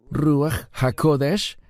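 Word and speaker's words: רוח הקודש: ¿Cómo se pronuncia Espíritu Santo en hebreo? Ruahodesh.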